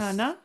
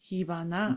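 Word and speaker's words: 火花: So, this is pronounced as Hana. Flower. Does this have rendaku in this context? Yes. Hihana? Hibana.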